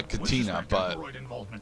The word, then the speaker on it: Katina: from the clean Outpost Karina however we're unable to I always pronounce it uh Katina yeah it's probably yeah no problem no that's how General pepper pronounced that I'll head to the